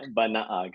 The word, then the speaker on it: Banaag: So Banaag, did I say it correctly? Pretty good. It's much better than Pretty most. good. Yeah, Close. yeah. It's Banaag.